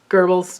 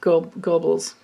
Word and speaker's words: Goebbels: i forget but anyway it looks like go gobbles but it's kind you pronounce it like gerbils it's gerbil there's an